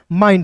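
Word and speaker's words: mind: तो मैंने एक नियम यहाँ बताया, एम का म लिखिएगा और आई एन डी का उच्चारण आइन के रूप में करेंगे, क्या हो जाएगा दोस्तों, माइंड हो जाएगा, क्लियर है।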